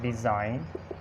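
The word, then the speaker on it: design: साइन, रिज़ाइन, इसी तरह डिज़ाइन, इसी तरह अलाइन और कंपेन, और हो सकती है चैंपेन। उसके बाद क्लोन और असाइन। ये एग्जांपल्स हैं। आप देखें एन से पहले जी साइलेंट है, इसको हम पढ़ते हैं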